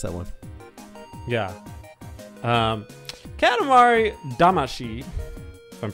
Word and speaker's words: Katamari Damacy: to say it teddy katamari damashi but it's not spelled like the way it should be pronounced in japanese so i understand why